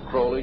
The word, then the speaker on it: Crowley: about was Alistair Crawley he likes to have his name pronounced Crowley to rhyme with holy and uh the Satanist